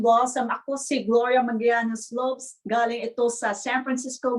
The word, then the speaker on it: Loeb: Loeb, like an earlobe. Like an Okay. earlobe. Earlobe, like lobe. Loeb.